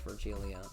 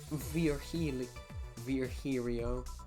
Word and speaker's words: Virgilio: You look winded, Virgilia. It's pronounced Virgilio.